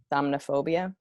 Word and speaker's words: somniphobia: It's like super, so it's called, I can't pronounce anything, Somophobia. And it's also known as Can you spell that? It's SOMNIPHOBIA. Okay. Somnophobia.